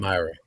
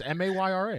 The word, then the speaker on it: Mayra: Myra. Oh, it is my bad. I was right. My bad. It's Mayra. I'm my bad. Yeah. It is spelled like Mayra.